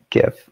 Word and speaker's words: GIF: published um thanks mutari it's pronounced gif or jif either way um so that's that's